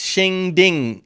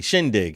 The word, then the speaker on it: shindig: okay I never seen this word spelled out spell it it's shinging oh Shing di shindig oh shindig yeah we usually say shinging yeah